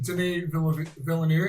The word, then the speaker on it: Denis Villeneuve: rare for sci-fi i think um you know denise villanue am i saying it right now yeah uh